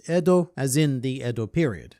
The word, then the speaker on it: Edo: But basically, it's a pun on Ed, which in Japanese would be pronounced as Edo, as in the Edo